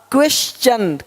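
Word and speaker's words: question: यदि किसी शब्द के अंत में एस के आगे टी आई ओ एन हो तो टी के आगे यू आर ई आए तो टी का उच्चारण चा होता है।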